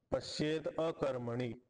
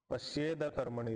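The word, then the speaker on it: पश्येदकर्मणि: कर्म असं यह पश्येत पश्येत मध्ये त होता त ला द झाला अ पुढे असताना पश्येद अकर्मणी ठीक आहे पश्येद कर्मणी तर द दिसते तर दच म्हणायचं त नाही म्हणायचं यह पश्येद अकर्मणी च कर्मय द सोबत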